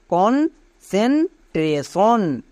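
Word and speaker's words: concentration: সি এন সেন কনসেন টি আর এ ট্রা কিন্তু না tray কারণ এ এর লং সাউন্ড হবে tray T আই ও এন সন তাহলে পুরোটা কি দাঁড়ালো কন সেন ট্রেসন এই ওয়ার্ডগুলো প্রথমে ভেঙে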